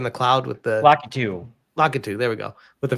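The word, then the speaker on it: Lakitu: but that Lucky Lucky I always say his name wrong. Luckyu the guy in the cloud with the Latu. Lockatu.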